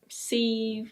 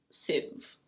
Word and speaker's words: sieve: I know it looks like "seev" or "see-ev", but it's: sieve.